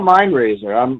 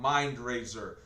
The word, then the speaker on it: MindRaiser: MINDRAZER, like raising a city.